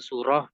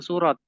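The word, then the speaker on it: سورة: jangan surat ya surah kalau memang pakai bahasa Indonesia ya surat gitu saja kalau niatnya agak-agak Arab ya surah gitu ya jangan surot dan dia lebih panjang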